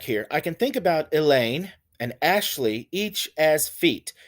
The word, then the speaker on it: Elaine: say elaine elaine so notice that i'm emphasizing the second syllable in the name elaine i don't say elaine right i don't say elaine i say elaine elaine so the first syllable is unstressed and the second syllable is stressed so i say that here elaine consists of an unstressed syllable followed by a stress one when you say elaine allowed the emphasis is on the second syllable so i might indicate